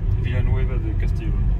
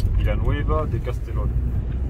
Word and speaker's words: Villanueva de Castellón: Villanueva de Castellón. Oula, comment? Villanueva de Castellón. Villanueva de Castellón.